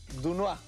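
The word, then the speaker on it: Doisneau: Se escribe Dois Neau. O sea, es Dunois.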